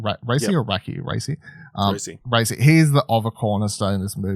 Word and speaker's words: Paul Raci: Raci.